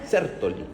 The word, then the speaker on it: Sertoli: Es el apellido de unólogo que se tilda en la e sertoli, aunque no lleva tilde en el español.